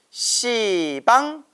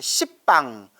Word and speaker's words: 시방: 10자를 써서 십방. 근데 십방 하면 발음이 너무 세고 욕 같잖아요. 이런 십방 하면 욕 같잖아요. 그래서 불교에서는 이 십자 발음을 이렇게 완화시키기 위해서 십방이라고 하지 않고 시방이라고 불러요.